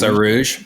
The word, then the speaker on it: Arouge: Noel sent me the deluxe album, and you worked with composer Arouge. Arouge. Am I Mm-hmm. pronouncing it? Yeah, Arouge.